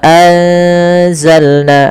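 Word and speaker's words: أنزلنا: Wa anzalna, ada nun mati bertemu za. Ini kita tidak tulis, padahal di sini ada bacaan ikhfa, yaitu suara apa namanya? Suara nunnya disamarkan ke zai. Wa anza, sambil ditahan bacaan eng-nya atau bacaan gunnah ikhfa ya, dengungannya.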